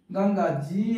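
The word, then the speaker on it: Ganges: তো তার আগে কি হবে দি গঙ্গা দি গঙ্গা জি এ এন জি গাঙ্গেজ জি এন জি এস গঙ্গেজ এরকম উচ্চারণটা বা গঙ্গা দি ইছামতি আই সি এইচ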